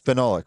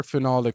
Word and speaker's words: phenolic: Now, is every product out of both so there is the so it's phenolic, right?